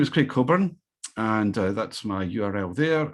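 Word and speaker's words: Cockburn: My name is Craig Coburn, and that's my URL there. I'm on Twitter. I have my own hashtag in addition to the festival one, Strategy Maps. And my name is Coburn, which is the same pronunciation as Alistair, one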